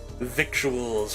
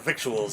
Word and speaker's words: victuals: Never heard the word victuals, eh, Speedy. It's a lingo out here on the trail. Doesn't look like it, but it rhymes with a little.